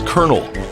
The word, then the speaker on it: colonel: A high rank in the military is colonel. It's spelled colonel. So why is it pronounced like a piece of Orville Redenbacher popcorn?